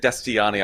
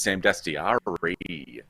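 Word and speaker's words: Dastyari: You just said Dastiani. I believe his name is Sam Dastiari.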